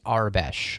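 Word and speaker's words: Aurebesh: That is I have always said it and heard it as Arbesh. So, I'm going to go with that because I always took it as sort of like an imitation of the word Arabic, you know.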